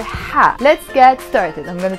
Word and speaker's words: ح: You really blow the air, right? Ha, let's try with this one. Ooh, if we cover this, it will be aya. But there is a number 7 here, which is the ha, the letter ha. So we will pronounce it ha.